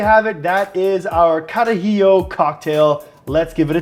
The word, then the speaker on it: Carajillo: Number 1, pronounce the drink right, okay? When you're going to the bar, you want to order these guys, it's called the Carajillo, not Carajillo, okay?